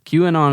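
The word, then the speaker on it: QAnon: Q anon so how you say it yeah q and on is a far-right conspiracy theory detailing a supposed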